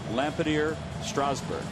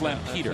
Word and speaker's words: Lampeter: went to uh I don't know if I'll pronouncing this right Wheels you might not need to help me with this lader strawberg Lampeter Lampeter it is Lampeter yeah that's out there uh Lancaster I believe